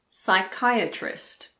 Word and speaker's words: psychiatrist: For example, pseudoscience, psychiatrist, psychic, psychology.